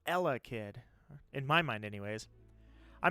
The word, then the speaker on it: Elekid: You got the emphasis on the wrong syllable. It's Elekid.